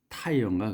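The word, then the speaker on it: Tyre: 그 사람은 장인, 그러니까 숭령공, 장인, 명장 뭐 이런 craftsman이 living in the city of 이게 또 타이어인가 그래요. 이게 발음이 타이어.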